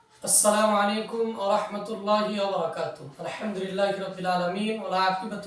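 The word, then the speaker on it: السلام عليكم: বেশি বেশি সালাম দেওয়া আসসালামু এই শব্দের হামজা এবং মিমের পেশকে স্পষ্ট করে উচ্চারণ করা যেমন আসসালামু আলাইকুম ওয়ারাহমাতুল্লাহি ওয়াবারাকাতুহু নাম্বার দুই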